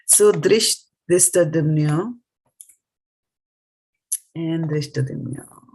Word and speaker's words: Dhṛṣṭadyumno: You did a dha here, but here is just a ta. It is not tha. Right. This is just a t. Right. This will be tha. dhṛṣṭadyumno. Yeah. Drishtha. See, drishtha. It's not drishtha. It is drishta.